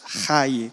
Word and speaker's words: jai: y se refleja que aunque ponga J es jai, como se pronuncia así, no como lo leyeron americanos, sin embargo es la